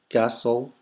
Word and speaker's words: castle: Grass, new, castle, here we don't pronounce the T.